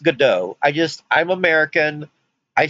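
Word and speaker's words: Godot: know that's not how it's I know it's pronounced good do I just I'm American I see go do and I pronounce it God dot I know that's not the right way I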